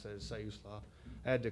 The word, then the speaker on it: Siuslaw: After Netart's Oceanside, I moved to Siuslaw Valley Fire and Rescue, which is further down the coast, and that's how you pronounce that, is Siuslaw.